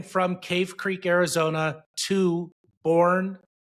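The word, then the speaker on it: Boerne: Cave Creek, Arizona to Bourne. Is that how you pronounce it? Is it Bourne, Texas? B O E R N E. It might be Bernie. You never know.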